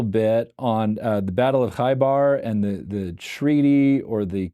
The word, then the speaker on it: Khaybar: And I'm wondering if you can comment a little bit on the Battle of Khaybar and the treaty or the covenant that was made with the Qurayshi people. Am I pronouncing Khaybar and Qurayshi correctly?